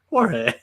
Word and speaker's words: Jorge: And Jorge Lopez, the closer carousel was interesting as always. Lopez. Jorge, what are you calling him? Jorge. It's a silent G.